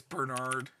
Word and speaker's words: Brenard: So we're going to get Brenard, who's insane. Like, he has so many combos. Oh, my caps locks up. Yeah. Just shouting it. Ah! So it's Burr. It's Brenard. God, I already lost him.